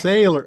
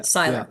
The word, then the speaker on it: Seiler: Okay, so in German, remember Oh, it's Sailor. that Seiler. EI is pronounced I, Yeah, yeah, Seiler.